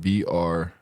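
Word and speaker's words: Br'er: that that that word br br rabbit br br rabbit like brother but without the OT BR rabbit foxs br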